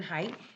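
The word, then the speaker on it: Haidt: there is uh dr height is i think in here his name is jonathan height it's spelled h-a-i-d-t and he says doctor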